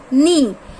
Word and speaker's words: knee: अब देखो हमने के लिखा तो है लेकिन उसका साउंड हम कनी तो नहीं बोल रहे हैं, नी. So here which letter is silent? के.